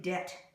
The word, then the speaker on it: debt: In debt, the B is silent, means owing money.